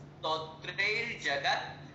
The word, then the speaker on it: स्तोत्रैर्जगत्: ठीक है, फिर आगे शब्द, अगला शब्द थोड़ा सा स्तोत्रैर्जगत्, स्तोत्रैर्जगत्, ई नहीं लगाना, स्तोत्र के पहले ई, बहुत से लोगों की